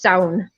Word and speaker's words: Samhain: Usually in Irish, it's sound. It's solid one word, like clown, but with an S. It's sound. But in Scottish Gaelic, it's usually pronounced Samhain. So it's two syllables.